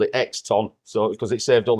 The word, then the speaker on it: Oxton: Skippers where I Is it How do you pronounce the name? Is it Eaton? Exton? No. Exton? Exton.